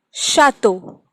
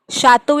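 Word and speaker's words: château: Another example, chateau. Chateau is palace, and it is sounding like sh. Ch is sounding like sh.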